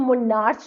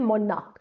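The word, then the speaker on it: monarch: इसको हम मोनार्च नहीं बोलते। हम इसको बोलते हैं मोनार्क। तो आर is also um silent here. Are is silent here. मोनार्क we call it मोनार्क नॉट मोनार्च।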